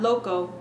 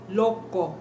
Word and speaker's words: loco: Loco. Not loco. Loco.